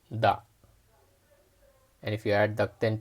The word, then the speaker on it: だ: of characters and sounds so by adding the thin or quotation marks to ta here it becomes da and if you add